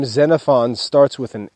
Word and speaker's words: Xenophon: household management that's xenophon's household management the name xenophon starts with an x x e n o p h o n and it's pronounced xenophon xenophon was a friend of socrates